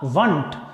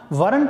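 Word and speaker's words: weren't: अगला देखिए वरंट, वर not, short form होगा इसका वंट। वरंट नहीं बोलेंगे, जैसा मैंने बोल के बताया, कई लोग वरंट बोलते हैं, सही उच्चारण क्या होगा इसका, वंट।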